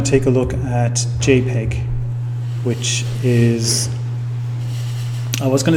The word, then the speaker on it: JPEG: photographic experts group and there's no dispute about how to pronounce jpeg it's jpeg no so way back you